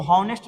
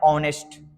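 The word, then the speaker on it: honest: तो इसको हॉनेस्ट नहीं पढ़ते हैं, इसको पढ़ते हैं ऑनेस्ट, यानी कि इसका प्रोनाउंसिएशन जो हो रहा है वो वोवेल से हो रहा है।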